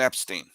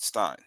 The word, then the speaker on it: Epstein: Dan for years and I keep saying his name wrong Dan Epstein not Stein uh about Ron Bloomberg